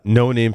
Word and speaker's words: Noname: There's obviously some of the 8200 unit involved in this acquisition, so I highly doubt it's pronounced Noname. It is no name.